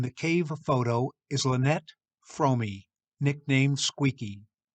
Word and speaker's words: Fromme: the third person from the right in the cave photo is lynette fromey nicknamed squeaky fromi is the way her name is pronounced though you will often hear it mispronounced